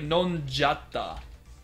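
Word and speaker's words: のんじゃった: You'll frequently see it pronounced like nonjatta. Because the nde shima is difficult to pronounce, you just say nonjatta.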